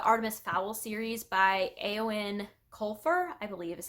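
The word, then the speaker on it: Eoin Colfer: read is the Artemis Fowl series by a Owen colfur I believe is how you pronounce that and there are eight books in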